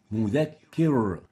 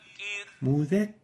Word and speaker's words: مذكر: Second mistake is velarizing the ra, giving it tafkhim, where it should have been attenuated and given tarqiq. An example of that is مذكر. مذكر. Tafkhim, velarized, while the right way of pronouncing it is like this. مذكر. مذكر. So we don't give tafkhim.